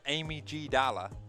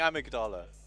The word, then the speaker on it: amygdala: I originally was saying this is Amy G. Dalla. Amy G. Dalla? Yeah, Amy G. Dalla. That is quite a pronunciation you've got. That is an pronunciation. I've been saying amygdala.